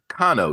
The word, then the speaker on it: Konow: And I'm here with author Kano. welcome. Yes. And you pronounce it correctly.